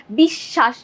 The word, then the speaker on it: বিশ্বাস: বফলা কারণে আমাদের বিশ্বাস মাঝে যখন ছিল দেখো এই বানানটাই দেখো বিশ্বাসে বফলাটা আছে মাঝে যখন মাঝে থাকে তখন আমরা উচ্চারণ করছি কি বিশ্বাস দুইবার স এর উচ্চারণ করছি অর্থাৎ বফলা সাথে থাকবে